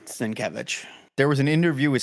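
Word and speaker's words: Sienkiewicz: names and that's where I learned that it's pronounced s kevich there was an interview with Stanley years ago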